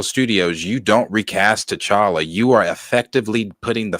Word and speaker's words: T'Challa: song Thank God to Chara rhymes with dollar gotta put phone every